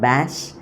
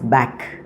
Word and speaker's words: Bach: he told me that it is not bash uh it is back whatever it is uh